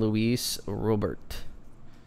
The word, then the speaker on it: Luis Robert: have a good week all right come on luis robert that's how you pronounce his name i'm trying to make that